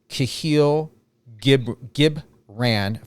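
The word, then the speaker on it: Kahlil Gibran: And that is a quote by Kahil Gibran, if I'm reading that correctly or pronouncing that correctly.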